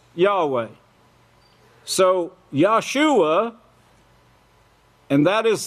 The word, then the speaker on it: Yahweh: King James Version is actually Yahweh that they pronounced Jehovah in the King James Version but they all know now that it's Yahweh so Yahshua and that is the name that